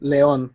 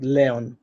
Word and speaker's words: león: For instance, león, it ends in an n, n, and it has an accent, so you have to pronounce it león, not león, león.